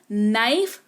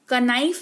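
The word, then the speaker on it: knife: अगर किसी शब्द में के अगर कोई शब्द के से शुरू होता हो और के के ठीक बाद एन लिखा हुआ हो तो के जो है वो साइलेंट रहता है यानी कि के का उच्चारण नहीं किया जाता वेरी पॉपुलर एग्जांपल नाइफ कनाइफ नहीं नाइफ पढ़ते हैं यानी कि चाकू कनोक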